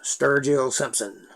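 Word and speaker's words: Sturgill Simpson: sturgeon s-t-u-r-g-i-l-l simpson s-i-m-p-s-o-n it's spelled just like it sounds sturgeon simpson he's a new country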